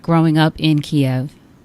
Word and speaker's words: Kiev: was growing up in the Soviet Union in Kiev did I pronounce it properly yes you did we practiced